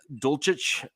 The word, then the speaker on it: Dulcich: We then picked up Greg Dulcich, tight end from UCLA. And I'm pretty sure I mispronounced his last name, but I think you did.